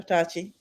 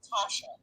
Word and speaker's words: Tasha: Tachi? Yeah, I was just going to correct the pronunciation. It's actually Tasha.